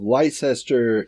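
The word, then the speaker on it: Leicester: strategic partnership it's Lester it's Lester it's Lester Carl you got you gotta you got to take syllables out of those uh British place names this is true this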